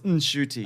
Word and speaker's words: Ncuti: So we've been told he's been telling people that the N is silent, but he learned recently it's not silent.